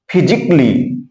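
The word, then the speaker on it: physically: तो आप लोग समझ गए होंगे कि जब कभी भी ए लेटर के बाद यल यल वाई आएगा तो वहां पर ए लेटर साइलेंट हो जाएगा, उसका कोई उच्चारण नहीं किया जाएगा।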